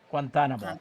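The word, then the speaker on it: Guantánamo: Guantanamo. Guantanamo. Thank you. I knew I would put the stress on the wrong syllable.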